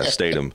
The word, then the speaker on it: Statum: Yeah, Statum. So I thought it was stubborn. It's stubborn. I know, man. It's Statum though.